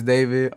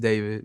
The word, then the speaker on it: D4vd: Hello, my name is D4vd. Um, pronounced David, not D4VD.